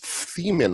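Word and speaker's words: Themmen: my former star is paris thiemann i want to say is how you pronounce his name it's t-h-e-m-m-e-n i tell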